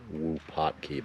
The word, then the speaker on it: Wupatki: Oh, it's pronounced Wupatki, by the way. I don't know what I've been saying, but that's how you say it.